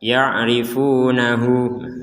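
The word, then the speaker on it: يعرفونه: Nah, ada waw kecil di sini, maka kita membacanya itu dua harokat. ya'rifunahu.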